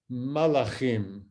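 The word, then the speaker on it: מלאכים: The Hebrew word for messengers is malachim. It's almost the same, just a slight difference in the vowel at the beginning, which I hope you could hear in my pronunciation.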